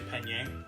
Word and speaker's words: penne: It's actually penne. Do not No, it's not pronounce it.